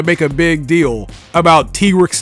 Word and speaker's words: Tigrex: Me personally, I prefer saying Tigrex because, Tiger T-Rex. But I've been told in the past that I'm pronouncing it wrong. It's actually Tigrex.